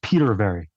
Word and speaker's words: Petervary: Yeah, just like it's spelled. It's Petervary.